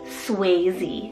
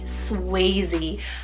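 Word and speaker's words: Swayze: Berlin's sister could be named this which is suy spell s w a y z e suy I think this is probably one of the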